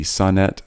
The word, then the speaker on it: Sonnet: very much it's my pleasure so is it Sonet I want to make sure I say your name right NE T NE T Sonet so Sonet do you you pronounce it yes Sonet Sonet Sonet okay